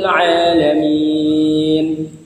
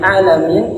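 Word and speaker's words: العالمين: Nah, di akhir ayatnya huruf Ain, huruf Ain. Alhamdulillahi Rabbil Alamin. Nah, kalau kita mengucapkan dengan huruf Ain, maka artinya adalah segala puji bagi Allah, Tuhan semesta alam. Dan ketika kita membacanya tidak menggunakan huruf Ain, Alhamdulillahi Rabbil Alamin, misalnya, itu akan merubah bangunan kalimatnya.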